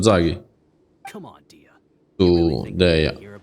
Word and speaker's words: Dehya: Tu, Dehya. Dehya lo chiama, la chiama però, eh. Quindi è Dehya si chiama. Vabbè, si pronuncia.